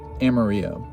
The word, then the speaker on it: Amarillo: Next stop is Amarillo, that's how you say it, in Texas.